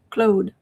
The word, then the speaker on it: Claude: Uh the O is pronounced close to an O like those, Claude.